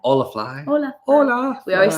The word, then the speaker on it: Holafly: Holafly. We always say it wrong. We realise afterwards, you're like, oh yeah, it's Spanish.